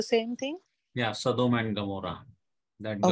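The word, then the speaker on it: עמורה: Gomorrah city, the first root letter is Ain. So Ain, although it is like Aleph, it is a silent letter, but it sometimes it gives a G sound.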